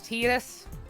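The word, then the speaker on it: Tidus: uh this is Titus the canonical pronunciation is Titus in Japanese his name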